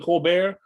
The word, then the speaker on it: Colbert: a look at the colbert and put the r over the t is silent but not you and